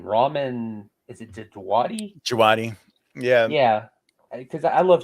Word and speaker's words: Djawadi: Djawadi.